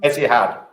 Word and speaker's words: Etihad: How do you pronounce that airline? Etihad.